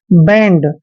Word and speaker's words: bend: Next है BEND, दोस्तों यहाँ पे देखिए बी का उच्चारण हम बै करते हैं और ई को छोटी ए की मात्रा पढ़ते हैं, एन को आधा न और डी को डे पढ़ते हैं। बैंड, बैंड मीन्स होता है